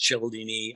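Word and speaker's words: Cialdini: pronounce his last name some people pronounce childini i pronounce the cld and his six he's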